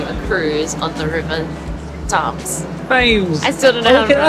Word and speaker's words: Thames: How do you pronounce it? Thames, We were yeah. both wrong. The River Thames, yeah.